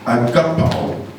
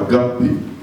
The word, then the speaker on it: agape: resetting the word love love comes from the word the Greek word agap it's not agape a g A a g A B o pronounce that means unconditional surrender of oneself